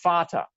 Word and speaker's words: Vater: In German, it's spelled with a V, but it's pronounced the same letter is still that F sound, Vater.